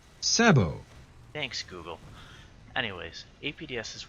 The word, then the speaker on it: sabot: And by the way, Sabot is a French word, and English pronunciation of T does not appear in French pronunciation, so Sabot is not how you pronounce this word. It's Sabot.